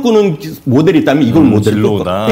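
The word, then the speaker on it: Zillow: 미국의 진로우라는 회사가 있습니다. 진로우? 예. 이름이 약간 재밌는데요. 진로우입니다. 진로우 그룹이거든요. 진로우는 소주 아닙니까?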